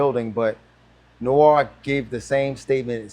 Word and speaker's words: Noir: to pronounce but it's Noir no is uh it's pronounced Noir but I told people if you want to say it right just say no R okay no R okay